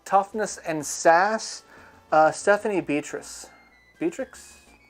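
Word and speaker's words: Beatriz: I don't know how, every time I look at her last name, it looks like it's pronounced, you say it a different way that it's spelled. And I know that's not accurate, but all I can see in my mind is the spelling.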